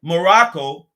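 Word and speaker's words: Maroc: kept the a's right they call it morocc okay this is the this is the french now the french spell morocco morocc they spell it m-a-r-o-c okay and the germans called it more rock co spelling m-a-r-o-k-k-o okay that's how the germans spelt morocco all right but the english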